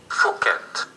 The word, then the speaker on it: Phuket: Of course, this is how you pronounce it, so I don't want to pronounce it wrong. Phuket.